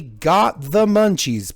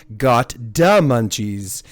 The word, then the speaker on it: gotdamunchies: the one and only got the munchies pardon me let me pronounce that so I can get the D properly got D Munchies as you might know